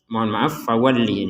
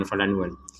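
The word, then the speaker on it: فَوَلِّ: Qiblatan tardaha fawalli ini ya, bukan falanwal.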